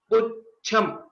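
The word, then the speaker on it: पुच्छम्: While we are pronouncing, we give a small pause or a bit extension after Pu. Pucham.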